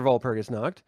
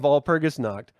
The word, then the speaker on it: Walpurgisnacht: W's are pronounced with V's because they're German and not English. So letters sound differently, slightly. Sometimes dramatically different. So let's stop saying Walpurgisnacht because it's not W, it's V.